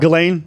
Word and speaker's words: Ghislaine: It's not Ghislaine. C'est Ghislaine. Just wanted to say that. It really bothers me whenever they pronounce her name Ghislaine.